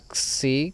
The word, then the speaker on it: xi: como una Z española, la xi, que sería una K y una S juntas, y la psi, que sería una P y una S.